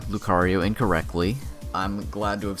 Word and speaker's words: Lucario: i believe what i have to do it's pronounced lucario oh it's lucario also the lucario project of